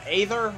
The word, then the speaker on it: Aether: And, alright, so next one is Rivals of Aether, or Ether, however you want to pronounce it.